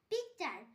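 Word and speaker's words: picture: এখানেও টি এর পর ইউ আছে তাই টি এর উচ্চারণ চ হবে। পিকচার, PIC পিক, TURE চার পিকচার।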